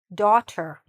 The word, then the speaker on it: daughter: Lots of letters to say daughter. Daughter. Now, some people don't pronounce the t as much and they say daughter. Daughter. But, it's probably easier and better and clearer if you do pronounce the t.